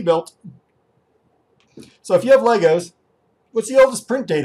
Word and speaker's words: Lego: And play Legos! I know. It's Lego, not Legos. But most Americans say Legos and most Europeans say Lego.